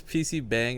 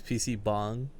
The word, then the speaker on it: PC bang: Did you just pronounce PC bang as PC bong? Because it is.